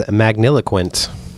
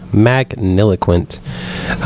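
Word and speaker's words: magniloquent: is uh what's your word my word is magniliquint that is very eloquent I know uh so it's magnificent it's spelled m-a-g-n-i-l-o-q-u-e-n-t magniliquint um you want to take a gander as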